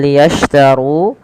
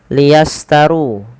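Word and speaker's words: ليشتروا: Shin pada lafal liyashtaru, ya, hati-hati dalam melafalkannya, jangan sampai terlafadzkan dengan liyastaru. Di sini harus berbunyi dengan shin.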